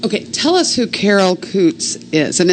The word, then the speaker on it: Coots: so what is okay tell us who Carol Coots is and it's spelled c o o TS and that is